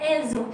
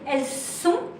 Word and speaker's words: elles ont: So elles ont, and the S will not say elles sont, but it will. You will make the link, what we call la liaison, with a Z.